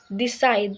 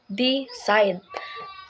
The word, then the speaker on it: decide: it relax not relax number two is the side here the stress falls on the second syllable side Mak making it decide not decide permit in the in